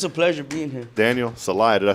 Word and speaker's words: Celaya: Daniel Celaya, did I say that right? Yes, sir. You Celaya? said it right. Celaya, Toyota. Not Celia.